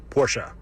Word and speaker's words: Porsche: Well, I can confirm after over a decade of employment with said company that it is pronounced Porsche.